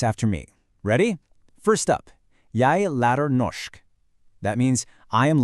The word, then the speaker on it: lærer: That little r at the end of the verbs, it's not optional. It's not jeg lærer. It's always jeg lærer. You can see the difference here. That r is what signals you're speaking in the present tense, and it makes all the difference in sounding right.